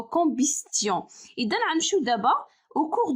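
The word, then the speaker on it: combustion: يعني أول حاجة قبل ما نبدا لكم، بالنسبة للكومبيستيون هي الاحتراق، راه تي كتنطق اوكي، واخا ما كتبانش انها كتنطق، ولكن الاحتراق بالفرنسية هو كومبيستيون.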